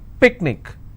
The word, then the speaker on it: picnic: Picnic, I will stress on pick.